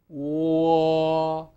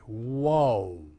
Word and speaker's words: wo: Um, and we pronounce that w war. Please practice this and be quite sure of your pronunciation of it. It's often um incorrectly pronounced by American speakers. Um I pointed American uh speakers uh or English speakaking students often have a tendency to pronounce this as if it had another u at the end. Whoa. Whoa. And that's incorrect. Remember, we don't say wo in Chinese.